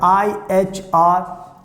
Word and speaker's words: ihr: So always remember wir, the pronunciation, wir. And now next we have it's ihr, I-H-R, ihr.